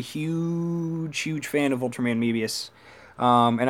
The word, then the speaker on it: Mebius: huge fan of Ultraman Mebius and I love when people say I'm pronouncing it wrong it's Mabius guys you got to remember that the Japanese are adopting English words like Sophie or Ultraman